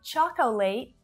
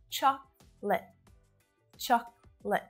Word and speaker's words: chocolate: one is for you not chocolate but choc li so that last syllable is also really short both vowel sounds in